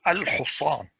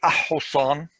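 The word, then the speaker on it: الحصان: Now the moon letters, you pronounce, for example, al-Husan. You don't say ah-Husan is wrong. It's because it's followed by ha, and ha is a moon letter, then it's al-Husan.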